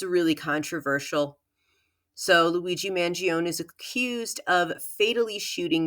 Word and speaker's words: Mangione: American from New York I pronounce his last name mangion I'm sure many people from the tri-state area in New York say it the same way and that's how I'm